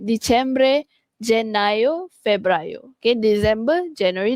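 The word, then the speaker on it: dicembre: Okey bukan Disember tapi di Cembre.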